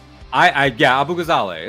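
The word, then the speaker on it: Abu Ghazaleh: Uh, and uh the the the rise of Kate Abu Gazala. Zale. I'm learning to say it right. I I Yeah, Abu Gazale.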